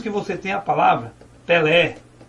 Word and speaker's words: Pelé: Depois que você faz a separação silábica, você observa que você diz Pelé. Vejam que esse ele vai como se fosse um eco. Isso porque a sílaba lé é a sílaba tônica, a sílaba que pode ser prolongada.